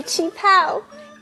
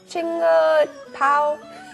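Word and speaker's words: qipao: Look at my chi pao. It is from my mom. Oh, it's really pretty. How do you say that word again? Chinga pao? Chi pao.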